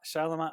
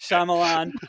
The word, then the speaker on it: Shyamalan: wes craven and clive barker and m knight charlemagne i knew i was going to say his name wrong m that's like shyamalan and neil gaiman who i am so that's